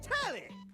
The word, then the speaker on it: Telly: The name's Tally. rhymes with Nelly like whoa Nelly